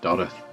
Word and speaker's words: Dodworth: town got places like dodworth pronounced doth goodworth pronounced kth uh